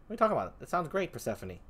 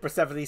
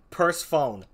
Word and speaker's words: Persephone: do in this corner persephone says look so long as it's not pronounced purse phone there here here here